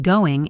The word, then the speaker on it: going: And as we've learned, the G at the end of going is often very soft. Goin'. So it sounds like, how's it going? Let's try it at full speed.